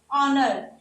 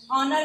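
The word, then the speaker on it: honour: जैसा कि ऑनर, ऑनर में एच है ये साइलेंट हो रहा है और पीछे ओ का साउंड आ रहा है।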